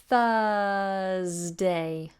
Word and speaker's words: Thursday: reference Thursday Thursday Thursday lots of people pay attention to the letter R but you shouldn't because what you end up with this Thursday Thursday and it's a little unusual see how flat my tongue is Thursday my tongue does nothing it sticks out at the beginning of course 4 th and then nothing Thursday Thursday okay so